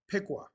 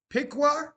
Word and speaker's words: Piqua: So it sounds like pickle. It's PQA. Piqua. Piqua.